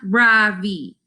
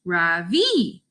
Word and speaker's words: Ravi: My name is not Ravi. It's pronounced Ravi.